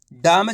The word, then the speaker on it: डिम: देखो किस तरीके से, डा में छोटी ई की मात्रा डी, इतने उच्चारण करेंगे कैसे, डा में छोटी ई की मात्रा डी, म, तो मिलके बन जाएगा डिम।